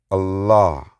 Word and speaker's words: Allah: So there's no other deity but Allah. Allah. There's no other deity but Allah. Now, it's talking about all of us. We say Allah for tones, but it's pronounced all ah.